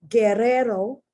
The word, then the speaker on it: guerrero: So it's guero, gueto, guerrero, guiar, guion, guisar. Okay, so the U is not pronounced. It's only there to tell you that you pronounce the G like G, G, G.